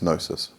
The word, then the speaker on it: gnosis: And okay, the last principle of chaos magic is gnosis, spelt with a G in, by the way. It's got nothing to do with your nose.